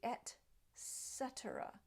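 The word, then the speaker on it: et cetera: a hard sound Etc but it really should be at cetera at Etc an example sentence games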